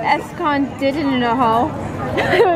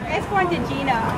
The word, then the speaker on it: Escondidinho: So we're trying to figure out how to pronounce this word. I think it's escondidinoho.